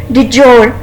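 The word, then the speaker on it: table d'hôte: Static menu, डिजोर, ये जो है इसको कहते हैं डी जोर, DUD और GOUR जोर, डी जोर मेन्यू, ठीक है।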